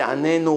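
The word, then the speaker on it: עננו: So they write in the Sidur, make sure you don't pronounce the Anenu with the Dagesh, because the difference between answer us and torture us is only the accent.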